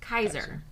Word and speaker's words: Caesar: hard K so yep Caesar would have been pronounced Kaiser but note that the r would not be an English R but the r you'd hear in Spanish not rolled but a